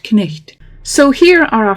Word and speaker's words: knicht: Pronounce all the consonants in the word, even with words like knicht.